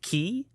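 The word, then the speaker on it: Qi: because this morning my it's spelled Q I but I guess it's pronounced key like you know you're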